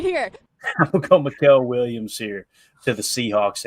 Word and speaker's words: Mykel: Is it Mykel or Michael? How would y'all say that? M-Y-K-E-L. I would say Mykel. That's how I've always heard that name pronounced, but I've heard people.